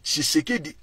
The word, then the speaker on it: Tshisekedi: ezaka difficile à prononcer le luba prononce ki comme chi donc Tshisekedi c'est pas son vrai